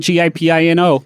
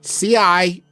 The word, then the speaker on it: cioppino: It's not Gipino. Cioppino.